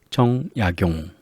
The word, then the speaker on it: 정약용: 성씨가 있는데 그 성씨 중에 이렇게 거물의 정자를 쓰는 정약용 이런 사람들은 정약용, 정 이렇게 읽는 게 아니라 정약용 이렇게 있습니다.